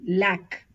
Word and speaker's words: lac: example l a c lack we pronounce the C here ail we pronounce the